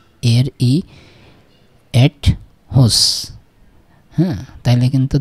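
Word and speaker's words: huset: ঠিক আছে তার মানে কি হান এরই এট হুস বললে হতো হি ইজ ইন আ হাউস তাই না ইনা হাউস সে একটা বাড়ির ভিতরে কিন্তু এখানে হুসা মানে এটা এটার পুরা উচ্চারণ হোসা মানে হুস এট না হুসাই হুসা যখন হচ্ছে তখন দা হাউস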